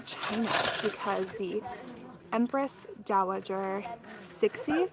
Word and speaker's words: Cixi: because the Empress Dowager Cixi, I think is how you pronounce it, it's C-I-X-I.